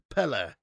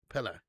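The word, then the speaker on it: Pelé: But it's actual the way it's supposed to be pronounced is Pelle. More like air at the end, like Pelle. Pelle.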